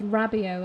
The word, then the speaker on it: Rabiot: If Torreira or Rabiot get it's Rabiot, isn't it? That's how it's pronounced. Just remembering how the commentator pronounced it.